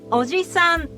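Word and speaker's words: おじさん: of defined vowel length, which distinguish a short vowel word like "uncle": Oji-san. from a long vowel word like "grandfather": Ojii-san.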